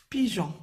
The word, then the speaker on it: pigeon: Le pigeon. Donc, on doit aussi mettre un E pour prononcer Jean.